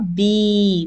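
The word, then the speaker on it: بي: As ba, kasra, and Ya, bee. Like you say bee in English, honeybee.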